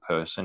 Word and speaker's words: Purson: So we've got OPSEC, and then we have got Person, which is based upon I found this mythology of a demon called Person. It's spelled Purson.